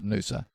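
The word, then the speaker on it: Noosa: I remember this is tedious but I remember I was up at Nusa there was the first time this is back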